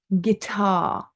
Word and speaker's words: guitar: We also have a silent U before G and before a vowel. So, for example, guess. We don't say guess. Guidance, guitar, guest. Okay, they're all silent U's.